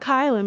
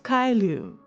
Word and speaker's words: Caelum: It's not Kylam, it's Kylum.